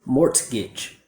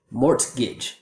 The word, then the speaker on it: mortgage: Mortgage, mortgage. But that's just too hard and unnatural, so instead we don't pronounce the T and it sounds like this.